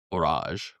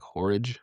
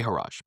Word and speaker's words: Horage: Second brand, Horage, pronounced Horage, right? Kind of rhymes with garage or por- Some people have pronounced it with like porridge, like horridge, right? I say Horage.